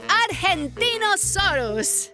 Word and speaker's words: Argentinosaurus: Devo I'm the Argentinosaurus whoa that is a big name for a big Dino I have to break it up to say it right R gen teen oh sore us that's me so I'm